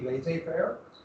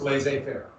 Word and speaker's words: laissez-faire: I'm going to pronounce it like I always learned it being an English speaker. It's actually laissez-faire, but I'm an American, and we speak American in here. So it's laissez-faire.